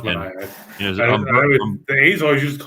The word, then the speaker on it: Manaea: The other one is Manaea. Oh, it's Sean Manaea? Sean Manaea, Alex Manoah. Okay, see, I didn't know it was pronounced Manaea. The A's always used to call it Manaea.